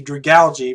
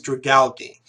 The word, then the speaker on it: Dragalge: say that pokemon properly I've always known it was pronounced like algae so there'd be for it be dragged algae but for some reason every time I tried to pronounce it was always it was always dragalge and I didn't know